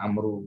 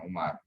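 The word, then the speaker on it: عمرو: Kalau Amru itu belakangnya ada wawu, maka bacanya Amru, bukan Umar.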